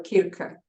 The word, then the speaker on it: Circe: would like, you know, people pronounce her name differently. It's a Greek goddess, Circe or Kirke. You know, depends from which tradition you come, which is a really a goddess of seductress."